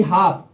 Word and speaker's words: half: हाफ के spelling याद रखना HALF, तो हाफ एल साइलेंट है।